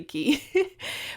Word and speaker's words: Quay: got some prescription glasses a key or Quay whatever I think it's key key my sister gets mad at me when I mispronounce koi or when I say Quay it's actually key but I love their